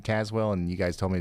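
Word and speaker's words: Tazewell: And Tazwell. Okay. I could have sworn last time I was saying Tazwell and you guys told me to say Tazwell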